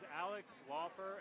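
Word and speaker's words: Alex Laufer: My name is Alex Walfer, A-L-E-X-L-A-U-F-E-R.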